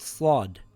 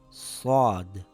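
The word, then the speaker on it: صاد: The closest letter would be the letter S in English, and similar to the letter seen, but it is pronounced with a heavy sound, slod.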